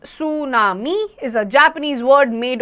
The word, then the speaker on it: tsunami: Tsunami, pronounced tsunami, is a Japanese word made of 2 parts.